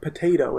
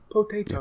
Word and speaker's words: potato: She puts equal stress on every syllable. It's not potato, it's potato.